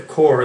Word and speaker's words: Corps: brand, and people have been calling it the Corpse, which is an incorrect pronunciation.